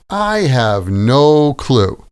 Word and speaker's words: I have no clue: I have no clue.